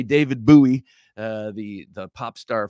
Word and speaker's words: bowie: uh was again someone very concerned about my pronunciation of the word bowie and he says I'm very happy to hear you pronounce buoy correctly uh I do appreciate your uh your